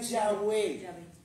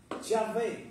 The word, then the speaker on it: Yahvé: Entonces, o sea, ya no sería Yahweé, Yahwé, como dicen todos los rabinos, los especialistas, dice todo mundo, Yahvé, no Yahwe.